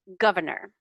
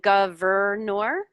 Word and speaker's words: governor: and history history and governor governor governor governor yeah we say it really lazily but yeah you are saying that x so you're saying governor um governor we don't even pronounce that extra r really governor governor yeah